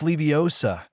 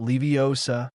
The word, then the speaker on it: Leviosa: Come on, it's Leviosa, not Leviosa. You even pronounced the spell wrong.